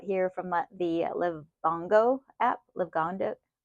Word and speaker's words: Livongo: Livongo. I'm not quite sure how to pronounce the name of the app. I know it's Liv, but you could see Livongo. That's it.